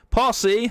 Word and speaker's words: posse: The Potpourri's posse. I nearly said it wrong again. And Coach Chronoculars. I had to do this take twice last week because I kept saying pussy instead of posse.